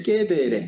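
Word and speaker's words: cedere: 캐드고 저거 이제 라틴어로 가면서 이제 깨데레, 이제 C가 이제 깨 발음, 끄 발음이 나니까요.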